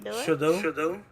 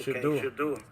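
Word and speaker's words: Shedeur: One thing for Deion Sanders' son, his son, I forget how you pronounce his name. Shador. Okay, Shador.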